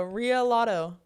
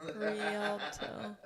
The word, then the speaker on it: Rialto: Ria lotto. I can't stop laughing. Rialto. It was like, wait, Ito. It's Rialto.